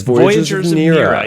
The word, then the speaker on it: Voyagers of Nera: Voyagers of Nera. Am I pronouncing that correctly? That is. Voyagers of Nera.